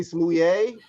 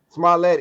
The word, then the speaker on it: Smollett: oh Jussie man, Smollett, Jesse Smouye. Smollett, like Smollett, they would say, Mouye, Smollett. Smollett. Smollett is how you say it.